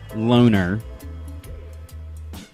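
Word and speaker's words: Loughner: That's L O U G H NE R. Even sometimes referred to or pronounced as Loner.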